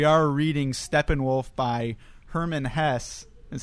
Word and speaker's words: Hesse: We are reading Steppenwolf by Hermann Hesse, is how I looked up that that's pronounced.